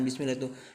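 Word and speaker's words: بسم الله: Nah, ini harokatnya kasroh, kemudian menghadapi lafaz jalalah atau lafaz Allah, maka cara bacanya millah bukan millah. Ingat-ingat. Jadi kalau ada bacaan bismillah itu bismillah, itu berarti salah kalimatnya ya. Harusnya bismillahi ya, bismillah.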